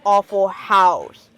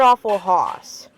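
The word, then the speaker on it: Awful Haus: Besides, the restaurant is called Awful House, not Awful Hoss. It's spelled H-A-U-S.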